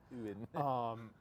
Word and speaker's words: Ewan: That's the correct way to pronounce it. Ewan.